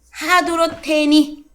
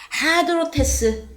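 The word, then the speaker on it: ἁδρότης: 하도로테니. 자, 발음을 다시 하겠습니다. 하도로테스. 이건 뭐냐?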